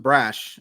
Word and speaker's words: Brash: And what a perfect time to do it, because stash rhymes with Brash, and we're going to talk about Matt Brash.